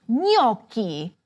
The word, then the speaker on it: gnocchi: The first item you might have noticed was "gn": This is pronounced like "canyon."